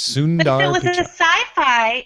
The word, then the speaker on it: Sundar Pichai: That one you can just pronounce it the way it looks. Sundar Pichai.